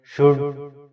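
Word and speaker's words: should: शुड में भी L silent है, शुड।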